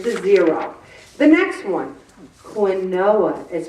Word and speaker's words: quinoa: 140 calories get to zero the next one quinoa is pronounced quinoa and I just pronounced it wrong quinoa it has eight grams of hunger busting protein